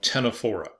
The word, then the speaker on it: Ctenophora: And that's the phylum Ctenophora, again with a silent C.